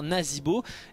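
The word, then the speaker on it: Nazeebo: e e t et donc ça se prononce i en l'occurrence donc nazibo avec le ze pour dire nazibo et en français donc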